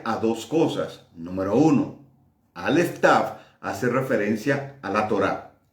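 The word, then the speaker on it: Aleph Tav: Número uno, Aleph Taf hace referencia a la Torá, a la palabra.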